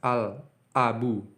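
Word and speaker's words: الأب: Al-abu. Huruf a-nya ini terlihat jelas. Huruf la-nya ini didengar dengan jelas, diucapkan dengan jelas. Al-abu.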